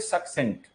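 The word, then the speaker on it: succinct: इसकी प्रोनाउंसिएशन होती है सक्सेंट। पहले वाला सी जो है उसकी प्रोनाउंसिएशन का है, दूसरे वाले सी की प्रोनाउंसिएशन सा है। तो ये जो सक्सेंट वर्ड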